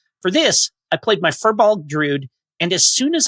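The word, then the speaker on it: Firbolg: For those confused, fir, as in the tree, is said fur, F-U-R. Fur, as in FEER-bolg. In lore, is pronounced fear, apparently.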